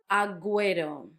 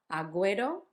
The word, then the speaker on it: agüero: Agüero, this was the two dots on the U that make it sound, that make give the U a sound, even though it's in a gue. Agüero.